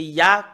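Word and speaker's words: יה: Voilà le Yod et le He, c'est Ya, comment on le prononce.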